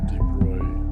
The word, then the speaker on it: de Broglie: what they call the the de Broglie (pronounced Broy) wavelength of the proton